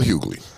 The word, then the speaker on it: Hughley: into everything um D.L Hughley Right Said the g is silent yeah he said Kanye